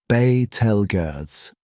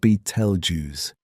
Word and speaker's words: Betelgeuse: The correct emphasis is on the first syllable. Betelgeuse. Not Betelgeuse.